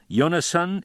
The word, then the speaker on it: Yonasan: I mean give the English name the Hebrew pronunciation instead of translating it. It's rather fashionable now. You mean call him Yonasan instead of Jonathan?